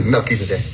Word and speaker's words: Melchizedek: In the story, the messenger of righteousness is Melchizedek, or Melchizedek, as some people pronounce. It's really Melchizedek. Melchizedek, which becomes Malachi Zodek.